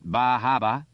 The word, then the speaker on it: Bar Harbor: magic names Camden Rockland Bar Harbor pronounced bah Haba Wiscasset bath Portland Ogunquit